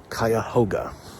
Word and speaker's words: Cuyahoga: actual Native American Wood they aren't 100% sure but the park is officially called kayoga so I feel good